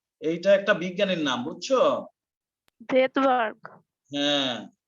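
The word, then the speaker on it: Svedberg: ভেদবার্গ। হ্যাঁ, ওনা সুইডেন তো বাড়ি, এই জন্য নাম এরকম। এস এর উচ্চারণ হবে না, কিন্তু লিখতে হবে।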